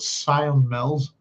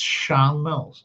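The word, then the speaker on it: Sion Mills: And a lot of people in Northern Ireland would mispronounce it and they would call it Scion Mills and it's Shan Mills.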